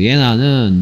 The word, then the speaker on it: 예나: 그래서 얘는 제나가 아니고 예나라고 읽어야 되겠죠. 예나는 내가 그녀의 파티에 오는 것을 원한다.